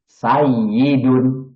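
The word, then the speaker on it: سَيِّدٌ: Nah, maka ini akan menjadikan wawunya diganti oleh ya menjadi sayyidun. Karena ya dengan ya bergandengan dan yang depannya bersukun, maka itu jadi tasjid. Tasjid itu dua huruf yang bergandengan kemudian digabung menjadi sayyidun.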